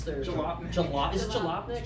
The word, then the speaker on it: Jalopnik: So far, or so much so that Japelnik, I can never pronounce their Jalopnik. Is it Jalopnik? Jalopnik.